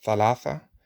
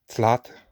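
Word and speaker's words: ثلاثة: So, for example, the TH sound, like in thalatha, for three, is sometimes pronounced like tlat, like with a T.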